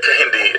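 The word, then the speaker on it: Kehinde: I'll spell that for you. Yep. O-L-A Yep. Y-E-M-I. Y-E-M-I. Yeah, and it's Oluyemi. Yeah, Kahindi.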